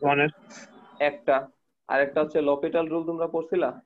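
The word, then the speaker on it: L'Hôpital: এর একটা আরেকটা হচ্ছে লপিটাল রুল তোমরা পড়ছিলা না জি স্যার হসপিটাল ডিফারেন্সিয়াল ক্যালকুলে আছে ভাইয়াতে অনেকে উচ্চারণ এলোপিটালও বলো মানে লোপিটাল বলে এটাকে এটা ভাই শূন্য শূন্য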